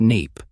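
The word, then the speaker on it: NAEP: assessment of educational progress, NAPE, pronounced NAPE.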